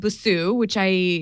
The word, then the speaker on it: Busuu: So this app is called Busuu, that's the way I pronounce it.